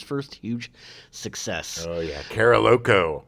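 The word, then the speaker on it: Carolco: Co I think so I mean that's how I always pronounce it as a kid because I saw a lot but it's definitely Carol coach but I was just like karaoke uh Carol Co was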